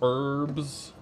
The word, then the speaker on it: herbs: Uh, all of these herbs. Do you guys say herbs or do you say herbs? That's the real question. I say herbs. I don't pronounce the H.